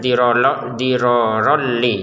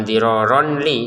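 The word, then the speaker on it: ضِرَارًا لِّ: Ronnya bertemu lam, kita masukin tanpa dengungan. Dirorol, jadi bacanya dirorolli ya, bukan diroronli ya.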